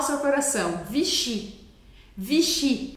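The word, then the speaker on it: Vichy: seu coração vichi vichi as palavras em francês em geral vão ser oxítonas a última sílaba é a que é a mais forte a mais que a gente Escuta mais forte por isso a gente fala vichi vichi e não V é vichi vichi você percebe a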